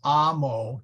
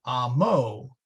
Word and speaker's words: amo: If it has 2 syllables, the accent always falls on the first syllable. So amo, which means I love, is pronounced as amo, not amo.